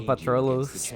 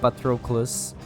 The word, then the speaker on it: Patroclus: greek mythology i think hello patrollos but true i i can never say his name right uh where's the